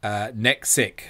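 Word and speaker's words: NEKXYC: For the future, it's pronounced as Nexic.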